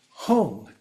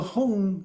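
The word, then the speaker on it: hung: often goes together and if we see a g at the end a lot of times and especially if it's an ng G together those are kind of pronounced as a singularity.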